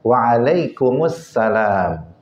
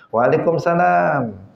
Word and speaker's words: Waalaikumussalam: tetapi minya Apa asalamualaikumah jawabannya Waalaikumussalam bukan jawabnya Waalaikumsalam memang terlihat renyah ya kalau enggak ada halnya terlihat renyah karena sudah terbiasa sudah terbiasa dia mengatakan Waalaikumsalam sudah terbiasa nah tetapi itu sebenarnya enggak tepat nah yang benar ya pakai Al Assalamualaikum Waalaikumussalam bukan waalaikumalam e hadirin rahimakumullah tetapi